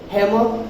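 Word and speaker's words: hammer: हैमर are silent है, बताया था मैंने आपको.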